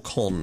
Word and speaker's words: Caen: So, that brings us to today, and we are playing against Stade Caen, or Caen, as I'm told it's actually pronounced.